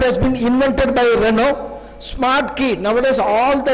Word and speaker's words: Renault: he india uelt reynold in french language we pronounce this as renault so renault we are a company